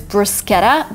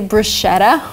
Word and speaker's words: bruschetta: people keep mispronouncing them the first word is bruschetta but I've heard a lot of people say bruschetta which is not right you can say there